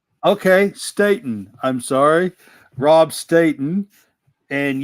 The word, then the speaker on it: Staton: this is Rob Staton is that am I pronouncing it right Stayton but uh it's fine everybody says okay Stayton I'm sorry Rob Staton and you are a